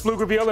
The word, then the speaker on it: Pflugerville: Hey, McNeil versus Pflugerville and the guys from the land of the silent P made some noise.